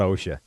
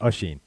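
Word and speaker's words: Oisín: an acronym yeah no it's not OSHA it's a sheen a sheen of course and the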